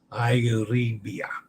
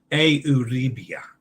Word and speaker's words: Euribia: The U in Italian is pronounced the long U, like in tune or cartoon. Euribia. A like day. Euribia. Euribia.